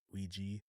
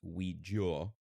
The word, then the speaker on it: Ouija: uh we have what the pronunciation of Ouija varies from country to Country in Britain it is most commonly pronounced Ouija or we go all in America it's pronounced Ouija they're interesting like Luigi